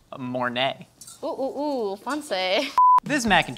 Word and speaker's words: Mornay: Mornay.